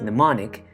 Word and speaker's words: mnemonic: poems acronyms images songs outlines and other tools mnemonic pronounced mnemonic is derived from the greek phrase meaning to